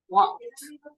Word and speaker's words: walked: So something very important here for pronunciation is this ed at the end, because it's not correct to say walked, walked, walked. It's going to sound like a T, walked.